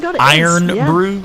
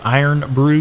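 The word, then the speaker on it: Irn-Bru: know that i iron iron brew iron brew yes contains that i r n b i u e o i i'm gonna type it in the chat yeah that's how i've always heard it pronounced i do not know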